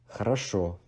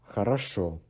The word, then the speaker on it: хорошо: As we have mentioned before, because you can only pronounce O maximum once in one word. So two O's in front of the third O are being de-stressed as A. So they're not хорошо, because хорошо is more like a Ukrainian pronunciation. Хорошо, хорошо. Okay?